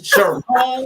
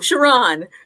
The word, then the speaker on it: Sharonne: So first of all, I've been calling you Sharon, so it's Sharonne. I know. How's it go? Pronounce it for me. Oh, Sharonne. Sharonne. Okay, I want to make sure I get it right.